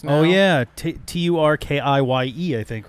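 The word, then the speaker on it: Türkiye: Much like Turkey is not Turkey or you know Turkey in Turkey. Yeah. in Turkish. It's like Turkiye. There's more syllables and stuff.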